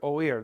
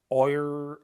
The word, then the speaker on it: oír: Let's take a look at the verb to hear, oír. There's an accent on the I to break up this diphthong. Otherwise it'd be oir, oir, oir. It's oír, two separate sounds.